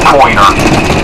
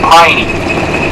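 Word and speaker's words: Poyner: the Pointer family, P-O-I-N-E-R, we pronounce it Pointer, but in the old island vernacular, just like Smith's Island and Wallops Island and Tangier Island, all there in the Chesapeake, they have their own little vernacular, and Pointer in the old days was pronounced Piney. It's like, Tom Piney, Albert Piney, but it's spelled Pointer, P-O-I-N-E-R. But the 2 Pointer boys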